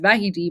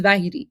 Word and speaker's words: Vahidi: So remember, they just talked about the head of the IRGC, Vahidi. It's, you know, it's it's pronounced Vahidi, but remember this is Vahidi, right?